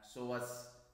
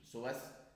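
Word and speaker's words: psoas: هنبدأ في العضلات اللي ديرايف فروم أبدومين أند بيلفس، وأولهم العضلة الضخمة المهمة ديت اللي اسمها سواس ميجر ماسل. البي ما بتتنطقش، سواس ميجر ماسل.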